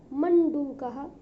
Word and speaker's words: मंडूकः: मंडूकः, अब कई बच्चे मंडूकः बोलते हैं, डा में छोटा ऊ की मात्रा का उच्चारण करते हैं तो वो त्रुटिपूर्ण है। मंडूकः, डूकः, मंडूकः यानी मेंढक।